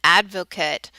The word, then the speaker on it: advocate: as a noun and it's pronounced a little bit differently when it's a noun okay if I say he is an advocate for the pro-life position